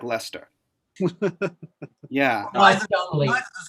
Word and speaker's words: Leicester: The one that I found really fascinating, Leicester, does not look like Leicester.